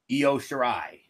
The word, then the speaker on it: Io Shirai: Io Shirai.